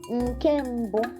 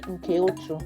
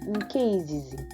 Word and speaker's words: nkembo: Nkembo. Note, you don't say nkeotu. No. Nkembo. Some dialects will say nkeizizi. But for us, we're going to use nkembo.